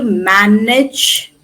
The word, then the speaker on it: manage: She's going to manage the project. Can you see age? Manage it as in bridge. Manage.